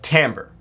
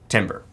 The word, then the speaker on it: timbre: note, and gives it what we call timbre, or timbre. Those words are used interchangeably, the pronunciations.